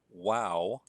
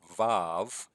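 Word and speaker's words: וו: the Hebrew alphabet is the Wow or valve and the pronunciation depends on the grammar that you're using Wow look something like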